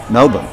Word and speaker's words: Melbourne: And that was part of the, you know, I'm here in Melbourne, and then I'm saying it right, Melbourne.